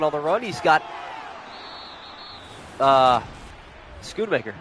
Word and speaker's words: Schoonmaker: He's got, Schoonmaker, right?